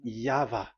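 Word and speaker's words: YHVH: Pronunciation is equal V. It is V. Y H V H. So it is YAHVAH.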